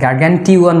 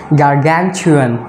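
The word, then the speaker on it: gargantuan: খেয়াল রাখবেন এখানে 2-1 বলি, অনেকে গার্গানটিওয়ান বলি অথবা 2-1 বলি, বা সেটা রং প্রোনাউন্সিয়েশন, রং ওয়েতে আমরা প্রোনাউন্স করি। আসল বা কারেক্ট প্রোনাউন্সিয়েশন হচ্ছে গার্গানচুয়ান, গার্গানচুয়ান, টি উচ্চারণ চর মতো হয়ে যাবে, গার্গানচুয়ান, আপনি চেক করবেন।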